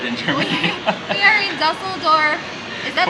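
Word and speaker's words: Düsseldorf: We are in Dusseldorf. Is that how you say it? Yeah. Dusseldorf.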